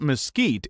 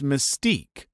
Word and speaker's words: mesquite: at me and said it's not Mesquite it's Mystique I pointed at the sign and label on the actual Effingham that said Mesquite ham but he still corrected